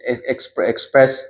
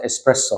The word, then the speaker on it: espresso: ایک تیز کافی کے کچھ لوگ کہتے ہیں کہ یہ ہے ایکسپریس ایسپریسو یہ سچ نہیں ہے یہ دراصل ایسپریسو کا تلفظ ہے جس کا بنیادی